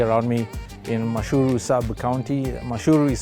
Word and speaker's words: Mashuuru: Mashuuru is spelled M-A-S-H-W-R-U. Mashuuru, it's a Maasai word, sub-county of Kajiado County.